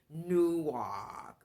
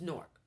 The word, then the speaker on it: Newark: Jersey Newark you know some people say new walk or they don't know how to pronounce it if you've been in that side of town um it's Newark but it's Newark New Jersey